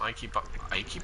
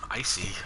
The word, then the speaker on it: icy: I see there's going to be some Ike bodies. What am I, a Roman? Pronouncing it with the hard C. Icy bodies.